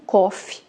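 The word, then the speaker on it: קוף: Essa letra ela também pode ser pronunciada como Kof, tá, que significa macaco no hebraico.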